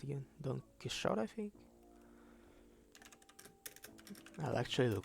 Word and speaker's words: Don Quixote: How was he pronounced again? Don Quixote, I think? I'll actually look his son up. Don Quixote.